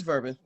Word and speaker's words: Verban: It's Verban. Verban, like bourbon. Rhymes with bourbon?